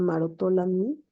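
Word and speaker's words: Maroteaux-Lamy: Luego está la mucopolisacaridosis tipo 6 que se llama marotolami. Está escrito. Se escribe maroteau es francés también.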